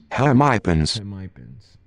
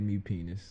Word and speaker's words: hemipenes: Hemipens. So it's Hemipens. not hemipenis.